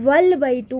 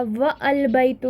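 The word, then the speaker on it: وَالْبَيْتُ: जैसे अल बैतु है, अगर वाव अटैच कर दिया जाए तो वल बैतु बन जाएगा, व अल बैतु नहीं पढ़ा जाएगा.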